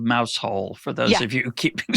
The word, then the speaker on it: Mousehole: It's spelled mouse hole for those of you keeping score at home, but it's pronounced Mousehole.